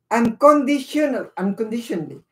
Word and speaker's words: unconditionally: Unconditionally. Ang talaga papronounce na dito eh, unconditionally. Parang pabilis yung sabanan, unconditionally. Minsan may parang kinakain mo niyang bandang huli. Hindi mo pwedeng sabihin unconditionally. Hindi ka lang maintindihan.